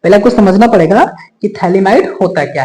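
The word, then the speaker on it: phthalimide: अभिक्रिया थैली might reaction T एच ए एल आई एम आई डीई थलीमा it reaction ठीक है थैली माड रिएक्शन इसमें टी हमने स्मल लिखा है क्योंकि प साइलेंट रहता है थैली माइड रिएक्शन या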